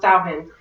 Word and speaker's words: Samhain: The first festival that I came across was a Celtic festival called Samhain, which is not how it is spelled at all, but it's pronounced Samhain.